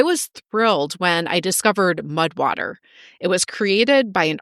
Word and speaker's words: Mudwtr: Mudwater is spelled Mudwtr.